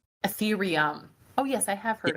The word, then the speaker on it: Ethereum: Ethereum. Ethereum.